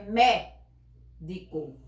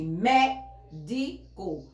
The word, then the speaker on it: médico: Então, a sílaba mais forte da palavra médico é médico. Pronuncio mais forte, médico.